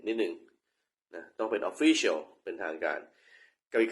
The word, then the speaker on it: Official: ตรง นี้ นะ ว่า มัน ออก เสียง ว่า ยัง ไง คือ คำ ว่า Official Official ที่ เป็น ทาง การ มัน ต้อง หนัก ที่ หนัก stress เสียง ดัง ที่ คำ ว่า จะ พูด คำ นี้ ผิด นิด นิด นึง นะ